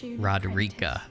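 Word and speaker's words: Roderika: certainly must try rodericka the spirit roderica that's how you say it please rodericka the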